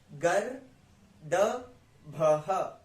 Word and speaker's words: गर्दभः: वैसे यहां गर, गर, गर, द, भह, गर्दभः, गर्दभः, गर्दभः।